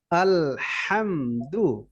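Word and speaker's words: الحمد: ওকে এবার দেখি তো আমরা শব্দ শব্দ করে আলহামদুল হাটা গলায় মাঝখান থেকে চাপ হয় যখনই আসবে এভাবেই হবে আলহামদু লিল্লাহি এইযে খাড়া জবর আছে না এটা যেখানে থাকবে ওখানে এক আলিফ লম্বা আলহামদ আলহামদুলিল্লাহি আলহামদুলিল্লাহ ওকে আলহামদ এখানে ধরে রাখা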